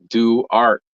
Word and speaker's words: Duarte: in bro Bren down phonetically it's do art and that's what I